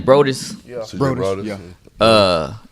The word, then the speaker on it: Brodus: Brodus, Yeah.